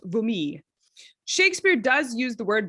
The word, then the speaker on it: vomit: anglo-french word vomit probably if you're speaking french it's actually pronounced vumi shakespeare does use the